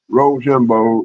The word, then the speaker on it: Rochambeau: So, but what I'm going to do is I'm going to say Rochambeau is how you pronounce it.